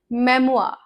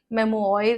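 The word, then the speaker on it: memoir: हाउ is this word pronounced? मेमोआ। मेमोआ। मेमोआर नहीं, मेमोयर नहीं, मेमोआर।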